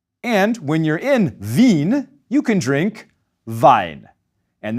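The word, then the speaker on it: Wien: So the capital of Austria in German it's vin. And when you're in vin you can drink vine.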